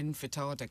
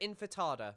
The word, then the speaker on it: intifada: I think calling for to globalise the intifada can only... God, I love that shit. She can't even pronounce Intifada. She calls it Infatada.